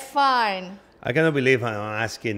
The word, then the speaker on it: Fiennes: Can you pronounce? Fine.